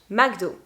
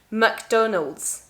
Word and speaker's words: McDonald's: the most different and it is magdal in french magdo we could say mcdonald but people don't really say that anymore but in english is going to be mcdonald's mcdonald's it could be mcdonald's in american english or in scotland as well i think i've